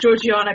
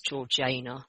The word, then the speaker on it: Georgiana: even got to throwing keira knightley and uh georgiana cavendish and the duchess so i am i knew you were gonna pronounce it wrong i was looking at the notes and i was like apparently it's georgina yeah okay sorry george cavendish there we go